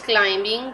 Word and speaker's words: climbing: will do it again sana is climbing the mountain in this letter in this word b is the silent letter he wrapped the wrist